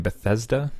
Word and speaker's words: Bethesda: Bethesda is how you say it.